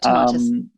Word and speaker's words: Tomatis: And there was a chapter there about your mother and her work with the Tomatis method. And I don't know if I pronounced that correctly, but I may have. Yep, Tomatis.